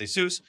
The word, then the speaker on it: ASUS: And yes, I did test this one, the ASUS, which people have been yelling me about pronouncing it right. All my life has been ASUS, but it's ASUS.